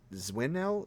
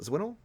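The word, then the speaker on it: Dzwinel: name of jacob dwin zwinnel zwinnel that's how i pronounce it i know what you're talking about that's a hard one it's like d-z-w-i-n-e-l he is a father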